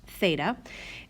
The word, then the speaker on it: theta: is a greek letter of the alphabet it's pronounced theta and we put that theta symbol in one of our two acute angles